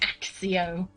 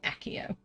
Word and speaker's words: Accio: something wrong it's like stephen fry saying axio when he's reading the harry potter books it's wrong and you shouldn't so stop it it's here it's accio i will die on that